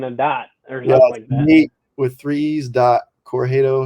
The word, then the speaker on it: Corugedo: like threes and then dots with threes dot corjado it's my last name c-o-r-u-g-e-d-o it's it's hard for everyone to pronounce um yeah or you could just you